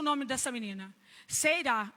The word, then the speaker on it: Seerá: Seirá. Eu pensei que é igual Ceará.